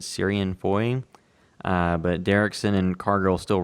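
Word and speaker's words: Ciarán Foy: I guess you pronounce it Syrian Foy.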